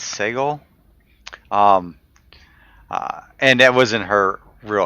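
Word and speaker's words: Sagal: I want to say her name was Seagull, but I think it's Segal.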